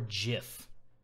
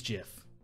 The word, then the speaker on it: GIF: typical way i mean gift you just take the tea off and you have gif so the question the